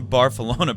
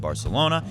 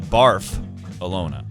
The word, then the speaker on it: Barcelona: We in Barcelona pronounce it more like Barcelona.